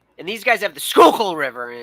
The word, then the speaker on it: Schuylkill: these guys have the Schuylkill River and it's like it sounds like you're clearing your throat when you when you say the river it's just you know